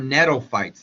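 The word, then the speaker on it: gnetophytes: naked seeds these are nof fights the G is uh the g is silent uh tropical live in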